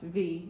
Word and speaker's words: v: In New Zealand, the V is pronounced V, not versus.